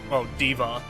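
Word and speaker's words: D.Va: Yeah, Hana's, Diva is how they pronounce it.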